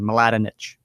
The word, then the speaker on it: Maladinich: True Radiance by Lisa Maladinich Madinich if you're looking for the pronunciation Maladinich So, um, there is the pronunciation for her name.